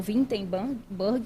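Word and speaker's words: Wittenberg: igreja do Castelo de witenberg né ou vintem Burg como algumas pessoas também pronunciam e Imagine como isso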